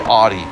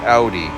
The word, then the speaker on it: Audi: things right or a lot of people say Audi it's like no it's an Audi or a hard one